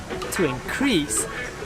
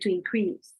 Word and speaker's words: increase: onto that yellow wall you notice the difference in the noun you put it in the first syllable but if when it's working as a verb you put it in your second season and then in that case your pitch goes higher in the technical or in the first one depending here are some